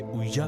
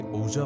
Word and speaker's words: Ouija: Latin में इसे उइजा कहा जाता है, लेकिन हमारे यहाँ इसे ओजा बोर्ड के नाम से जाना जाता है, क्योंकि उसकी स्पेलिंग से यही उच्चारण निकलता है।